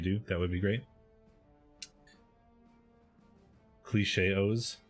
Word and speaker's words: Cilche-os: that would be great cliche OHS rhymes with chaos I don't know if